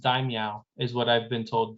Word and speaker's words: Daimyo: keep wanting to say damio and i'm like i know that's not what it what it is but i actually think it's pronounced daimyo is what i've been told dime like meow yeah yeah dime yeah